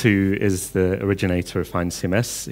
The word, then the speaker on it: FeinCMS: is the originator of fine cms he's swiss speaks german so his pronunciation would be fine cms fine in german means